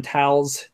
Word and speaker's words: Tals: Sorcerer is working foul enchantments in Tals, which is how you pronounce that, which is the name of the forest.